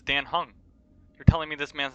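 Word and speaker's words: Dan Heng: more pretty boy though but yeah this is Dan hung that's how it's pronounced it's Dan hung you're telling me this man's not hung he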